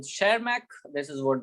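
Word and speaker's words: Tschermak: और तीसरे साइंटिस्ट है ई वी टी साइलेंट, सब कुछ साइलेंट मैक। ठीक है, वो अपने लैंग्वेज में बोलते रहे खुद का नाम, है ना। तो शेरमैक, दिस इज व्हाट द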